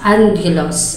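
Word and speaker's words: ἄγγελος: comes from the two Greek terms namely agos pronounced as Angelos and meaning it is Messenger or Angel and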